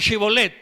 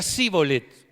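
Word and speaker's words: shibboleth: bien y otros no algunos la mencionaban chibolet pero a los de Efraín no le salía chivo led a los de Efraín le salía cibolet y pronunciar malé solos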